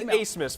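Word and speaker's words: Abmas: max a smith now his name is spelled a b m a s it is quite trickery but it is acemus folks and he gets you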